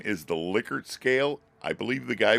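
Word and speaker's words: Likert: a lot and it's official name is the liquer scale I believe the guy was German that invented it and that's the way it's pronounced liquer again you've seen these a lot so this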